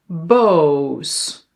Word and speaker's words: boos: vis vies or pit piet then o versus oo bos boos zon zoon Yeah? One letter, two letters. Short, long.